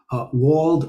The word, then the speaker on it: Wald: Wald or Wald, as it's originally pronounced, is a forest.